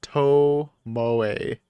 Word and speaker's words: Tomoe: Tomo is pronounced Tomoe.